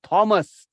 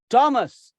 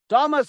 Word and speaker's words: Thomas: Thomas is not pronounced as Thomas. It is pronounced as Thomas. Thomas Hardy.